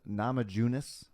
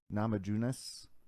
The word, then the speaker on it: Namajunas: you you know america versus china thug rose namajunas i think that's how you say it namajunas and then you got whaley zhang and then